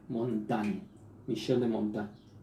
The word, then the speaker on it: Montaigne: así se escribe en mont aire pero se pronuncia montaña michel de montaigne y la obra más conocida